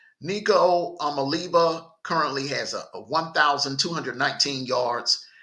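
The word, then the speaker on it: Nico Iamaleava: They are led by Nico Amaliva. I hate to mispronounce people's names, so I'm gonna be honest with you. I had to really practice on this kid's name, Nico Amaliva. Nico Amaliva currently has a 1,219 yards passing, 7 TDs,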